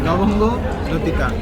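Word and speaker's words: লবঙ্গ লতিকা: Repeat after me. Lobongo Lutika. See, lobongo is long.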